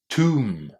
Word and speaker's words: tomb: Probably the only thing that's not surprising in this word is that it starts with the T sound.